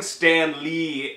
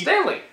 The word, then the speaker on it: Stanley: See, and Stan Lee, that's how you keep saying it.